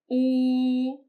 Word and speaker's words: 呜: 呜 The oo sound is similar to the double O in the English word boo. Note that when pronouncing this, the opening of your mouth is narrow, and you need to keep your lips fully rounded throughout.